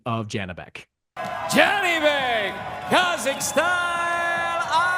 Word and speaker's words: Janibek: On the way out the door, Sergio, I want our producer Adam to play for you the correct pronunciation of Janibek. Janibek, Kazakhstan.